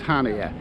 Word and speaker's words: Chania: Spelt CHANIA, pronounced Hania.